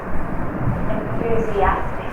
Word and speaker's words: enthusiastic: Here is a secondary stress and the primary stress. Look at it. What is that? Primary and secondary stress. Enthusiastic. It's the fourth syllable.